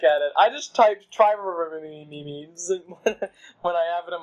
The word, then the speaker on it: triremes: So they built a giant fleet of, and I have no idea how to pronounce this word, I bet you do. Tyreremes? Tyreremes? How the heck do you say it? Tyreremes? Triremes.